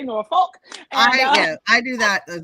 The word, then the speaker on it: Norfolk: The natives say it sounds like no fuck. Yes, that's how most people say it. I say Norfolk.